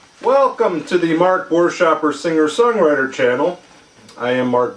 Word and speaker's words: Buerschaper: Easiest way to think of how to pronounce it is boo, like the ghost, boo. Is an and shopper is in grocery shopper, Christmas shopper, shopper. So you string together Buerschaper.